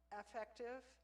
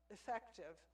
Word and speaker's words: affective: Psychomotor, motor is physical, cognitive is mental, and affective. It's usually pronounced effective, but when you say it that way, it sounds just like the word that starts with E.